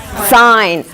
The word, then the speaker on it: sign: It's silent. Don't pronounce it.